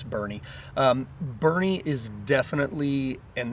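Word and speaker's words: Burnet: It's called Bernie. Uh kind of looks like Borie, but yeah, it's Bernie.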